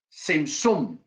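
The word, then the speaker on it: צמצום: Claro que tiene una T metida, pero es complicado pronunciar la T, pero sin zoom.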